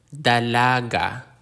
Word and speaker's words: dalaga: kapatid capati means sibling the consonant D like the D in dog dalaga Daga dalaga means a young woman